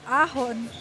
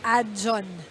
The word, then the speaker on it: Aon: ace by uh Sandra Aon sorry Aon lineup pronounced as adjun good job writers guides Of course, we also want to address our correctly.